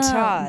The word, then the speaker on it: Guittard: B, that it's different from it's that guitar other. Guitar with a D. Yes. Yeah. Guitar. Guitar. or if you're French, you don't pronounce the D.